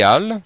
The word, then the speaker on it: Halles: H muet en tête, pour indiquer qu'il n'y a pas de liaison. Hein. Ici, on dit bien les Halles, pour ce quartier de Paris, par exemple.